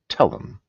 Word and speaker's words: Telume: Telm since the 1990s. Yes, that's how it's this cheese is pronounced. It's called Telm. It's It's a cheese that's really worthy of attention. Telm is a cow's milk cheese with the oozing